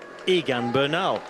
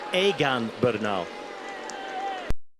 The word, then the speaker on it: Egan Bernal: uh another one was in English you would pronounce it just look at it and say Egan Bernal it's aan Bernal and it's a name we'll be talking about